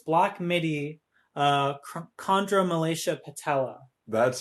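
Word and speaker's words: Chondromalacia Patella: your favorite yes and it's black midi uh chondra malaysia patella that's how you pronounce it yes did you have to like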